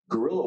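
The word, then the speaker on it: guerrilla: do they call gorillas notice it's not spelled like the animal what does the word gorilla refer to Guerilla Warfare is is is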